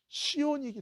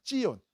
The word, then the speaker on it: 시온: 시온이기 때문에 그래요. 시온. 이 히브리어로는 사실은 시온이 아니라 이 발음이 뭐냐면 찌온입니다. 찌온. 다 같이 찌온. 시작. 찌온. 이게 원래 맞는 발음이에요.